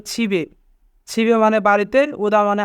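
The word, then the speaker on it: 집에: ছিবে ওদা, ছিবে ওদা মানে বাড়িতে আসা। এখানে বাচ্চিমের পরে ইয়ং থাকার কারণে ইয়ংয়ের স্থানে বাচ্চিমটি যাবে, তাই উচ্চারণ হবে ছিবে।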